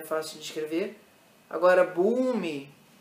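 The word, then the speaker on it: भूमि: Agora, Bhumi, em inglês se escreve com O, mas o Bhumi tem que ter esse som, né? Aqui em inglês fica Bhoomi, mas você poderia escrever isso com U em português.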